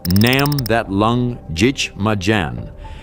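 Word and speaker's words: Nắm thắt lưng địch mà đánh: In Vietnamese, it's pronounced Nam That Lung Jich Ma Jan, and it translates as grab the enemy by the belt and fight.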